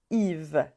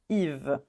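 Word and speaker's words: Yves: alors ici on prononce Yve Yve on prononce pas le S à la fin Yve pareil ici on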